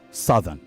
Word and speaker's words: southern: So you pronounce it as s u t h e, okay? Good. North, northern. South, southern.